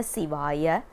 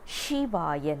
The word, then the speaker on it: Siva: One more thing that we need to understand is we don't pronounce it as Shivaya Nama or Nama Shivaya. Shiva is a name, it's not a mantra. Siva is a mantra because Si has a significant meaning, and that's one thing